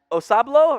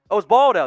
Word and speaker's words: Osbaldo: C from Osablo, or I'm not pronouncing that right. Osbaldo, that's how it is.